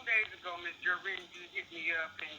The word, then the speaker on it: Jewrine: Most important, I want to clarify my name is Jewrine. It is Jewrine. I have a very ethnic name. I'm very proud of it, but it's pronounced Jewrine.